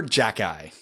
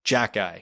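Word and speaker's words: Xhejaj: his first name is arbor his last name is spelled x h e j a h z arbor jackey that's yeah there's video of him saying it that's correct arbor jackeye that's metal bryce s who's a new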